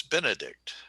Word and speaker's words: Benedict: three okay where's the emphasis benedict on the first syllable okay and cumberbatch three